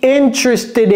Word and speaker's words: interested: To be interested in. Vous voyez que ici, il y a une liaison que j'ai fait, n'est-ce pas? Interested. Et d'ailleurs, ce E-là ne se prononce pas.